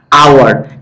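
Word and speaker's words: hour: এটা কিন্তু হাওয়ার উচ্চারণ হয় না, আওয়ার, এই ওটা উচ্চারিত হয় বলে এটা ভাওয়েল সাউন্ড, এই জন্য এন বসছে।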